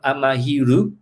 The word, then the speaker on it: Amahiru: myself from france and so if you want to pronounce it or write it in a japanese way it would become amahiru okay and i said